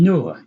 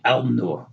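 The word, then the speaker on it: النور: And then noon, you say and nur. You don't say al nur, right?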